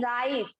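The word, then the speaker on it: write: डब्लू है लेकिन बोल हम क्या रहे हैं, राइट। सिर्फ हमने क्या बोला, राइट बोला, डब्लू को हमने साइलेंट रखा।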